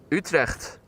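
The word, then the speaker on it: Utrecht: Yeah, that's the Dutch pronunciation. Utre.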